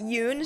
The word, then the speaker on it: Yune: Or I guess Yune. I think they retconned the pronunciation of her name is as Yun now. So I guess I'll just say Yun, even though it's first Yune.